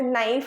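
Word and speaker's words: knife: प बनी है देखो जैसे नाइफ होता है तो नाइफ की spelling N आई एफ ई नहीं होती के एन आई एफ ई होती है तो के साइलेंट होता है तो वो क्या हो गया एक्सेप्शन हो गया कि हमने लिखा उसको बट हमने उसको प्रोनाउंस नहीं किया ऐसे ही ग्रामर में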